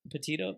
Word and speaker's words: Petito: She low-key has a Spanish last name, but the way they pronounce it is like what's his name? super petita, Petito, but it's petito.